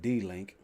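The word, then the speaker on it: DLANC: los angeles neighborhood council d-l-a-n-g pro pronounced d-link would be willing to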